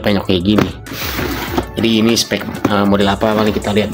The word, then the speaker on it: Specs: Udah bisa dilihat di sininya ada spek ya, spec, tapi dibacanya spek.